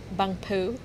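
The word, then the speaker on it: Bang Pu: Bang poo.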